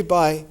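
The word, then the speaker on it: pi: is called a b spelled p i but pronounced b it is the symbol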